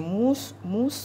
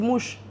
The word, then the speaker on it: mousse: Par exemple, quand on dit mousse, ils disent mouche.